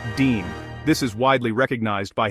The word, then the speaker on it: disme: The first American coin ever made was the 1792 Half Disme, pronounced Dean.